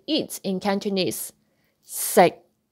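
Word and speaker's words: 食: Eat, when we say eat in Cantonese, sick, sick. Never pronounce that K sound sick. No, don't say all sick. We say sick.Sick, sick. It is a stop sound. You don't pronounce that k out, but sick, sick.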